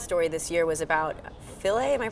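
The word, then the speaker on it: Philae: another big science story this year was about filet am I pronouncing that right yes um landing on a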